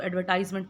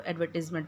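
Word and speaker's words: advertisement: ये एडवर्टिजमेंट, ठीक है, इसको ना अक्सर जो लोग हैं ना, इसको एडवर्टाइजमेंट प्रोनाउंस करते हैं। ये जब एज अ वर्ब यूज़ होता है ना, इसको आप एडवर्टाइज बोलते हैं, ठीक है, एडवर्टाइज। लेकिन जब ये एज अ नाउन यूज़ होता है तो फिर आप इसको एडवर्टिजमेंट प्रोनाउंस करेंगे।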